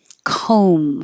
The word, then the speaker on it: comb: these that sound similar comb forget the B and the vowel is O like homes you have to round your lips I